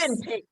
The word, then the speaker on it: Mövenpick: How do you pronounce it? The movie Mövenpick. Yes, Mövenpick.